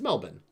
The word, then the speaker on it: Melbourne: It's Melbourne. It's Melbourne.